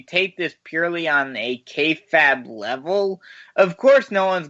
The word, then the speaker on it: kayfabe: I don't know why, but every time you say kayfabe, it annoys me. Oh, Harry, you're so cranky and I have a headache. Let's wrap it up and move on. Come on. The E is silent. Fabe.